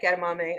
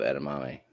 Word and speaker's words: edamame: I actually really like edamame. I should get some. So Kind of rhymes with gourami.